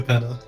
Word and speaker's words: Capena: New Capena.